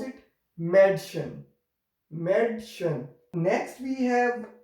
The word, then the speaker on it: Mädchen: If we have these dots, two dots on it, then we will pronounce it Madschen.